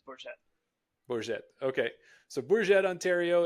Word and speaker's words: Bourget: are always wrong but is it in bour Ontario or do they call it bourgette uh I mean I'm sure there's people that pronounce it that way for sure but uh I I've always heard it as bourette bourette Okay so bourette